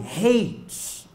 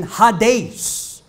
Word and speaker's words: Hades: po yung lugar na kung tawaging haes or yyung tamang pronunciation Hades in Greek mythology ang